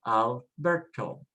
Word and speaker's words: Alberto: So let's look at the very first one, Alberto. It ends with a vowel, so the stress is next to the last, and we simply say Alberto, Alberto.